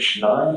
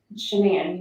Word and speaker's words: Shanann: All right, so I understand that you are pretty good friends with, is it Shannon or Shanann? Shanann, you pronounce it like shenanigans.